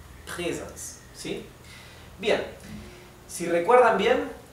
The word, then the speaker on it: Präsens: Si la A no tuviera la diéresis, esto se pronunciaría Präsens. Pero como tiene la diéresis, se pronuncia Präsens. ¿Bien? Ok, es casi igual a una E. Präsens.